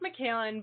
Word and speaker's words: Mikalyn: you pronounce your name so it's pronounced michaelan but it's okay i get a lot of pronunciation okay mckaylan so how have you